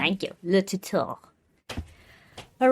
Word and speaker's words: Le Tuteur: I minored in French, so I'm trying to get that R in there. Great pronunciation. Thank you. Le Tuteur.